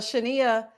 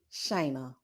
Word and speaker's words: Shayna: y'all watch because uh Shania had um oh no it's actually Shayna why do I always pronounce her name like that I'm sorry girl Shayna